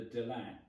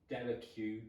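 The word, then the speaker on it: Delaque: I'm not going to talk too much about the links between the Delac, Delacue, Delacroix.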